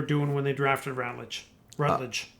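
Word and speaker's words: Rattler: Rattled. I think it's Rat. It's with an A. Is it tape? Rattled. It's with an A. Oh, you might be right. Not a U. Right. Rott and Rat.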